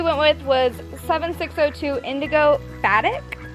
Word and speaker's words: Batik: And the color we went with was 7602 Indigo Batik. I think that's how you say it. I'm not sure. It's B-A-T-I-K.